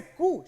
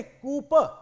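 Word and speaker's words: coup: कहते हैं कु वैसे कु शब्द की स्पेलिंग होती है सीओ यू पी लेकिन इसे कु प नहीं कु पढ़ा जाता है और कहते हैं कि पी साइलेंट होता है इसमें और ये जो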